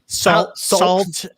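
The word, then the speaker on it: Sault: spelling of it they're they're going to mispronounce it yeah salt and then s-t-e marie yeah you know yeah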